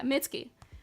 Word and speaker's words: Mitski: Yeah, Mitski.